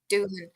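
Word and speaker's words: Doohan: I think I think Jack Duan that's how you pronounce his name yeah Doan yeah he has proven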